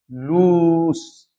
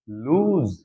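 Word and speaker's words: loose: ये है लूस, बट इसको ज्यादातर स्टूडेंट्स क्या बोलते हैं? लूज।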